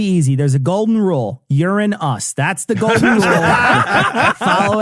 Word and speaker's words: Uranus: So I'd like yes, the correct pronunciation is Uranus. Yes. That is the fucking name they gave to the planet. Now, Uranus is also an acceptable pronunciation.